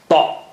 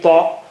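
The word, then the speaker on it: ط: If you remove that dot, then you get ta. It has a big fat tummy, ta, big fat tummy, ta, and it is indeed very thick and high sounding. Ta. How do you say ta? Thicken your tongue and touch to the upper gum.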